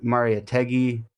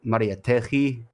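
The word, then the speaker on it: Mariátegui: people in particular were Maria tegi or Maria teji I think is how you're supposed to pronounce it who described the oppression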